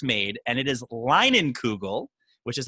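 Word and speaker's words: Leinenkugel: kind of said like is it is it lingan kudo and i was melting i was chomping at the bit because the pride of chippewa falls is where it's made and it is linen kugel which is how you pronounce that and that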